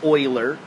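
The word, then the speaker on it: Euler: base e which is Oiler number and yeah that's weird that that guy's name is pronounced Oiler um Oiler number is something we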